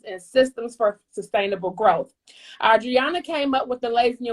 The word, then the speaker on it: Adriana: Adriana. It's like the AU, except the U is invisible.